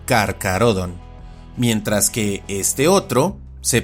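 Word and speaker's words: Carcharodon: As por ejemplo, este nombre se pronuncia y castellaniza como Carcarodon, mientras que este otro se pronuncia y castellaniza como quiróptera y sus miembros son llamados quirópteros.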